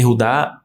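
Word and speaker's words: יהודה: tribo de Judá e ud eud e rudá é a pronúncia Hebraica E por que que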